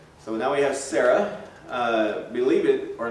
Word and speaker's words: Sarah: of our daughters but it would actually be pronounced s-a-w if you're you know you see the pronunciations and then a h uh raw so saw like you saw something raw so sarah but we